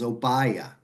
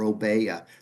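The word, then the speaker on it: Obeya: Do you do things like big room planning, otherwise known as oaya or obea depending upon how you pronounce it?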